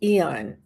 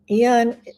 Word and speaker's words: Aeon: And then there's Eon. Eon is spelled AEON.